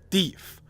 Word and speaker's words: deaf: Deaf was originally pronounced to rhyme with leaf.